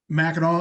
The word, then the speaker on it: Mackinac: in the edibles category there yeah um so mackinaw island and you pronounce it correctly uh it's an island right